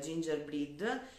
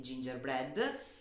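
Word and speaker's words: gingerbread: per le mani al ginger breed che in realtà capo mi ha detto che non si pronuncia primo a breve quindi gingerbred quindi questo lo utilizzerò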